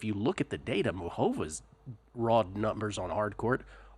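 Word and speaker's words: Muchová: uh I do have karolina makova Carolina moova is the correct way to pronounce that by the way moova uh got her at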